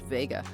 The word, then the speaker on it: Vega: to three different constellations viega sometimes pronounced vega has the brightest apparent